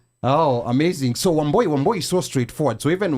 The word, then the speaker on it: Wambui: So wamboy is so straightforward. So even wo camo, they mispronounced that. How do they say it? It's the cadence that's off. It's like wam boy.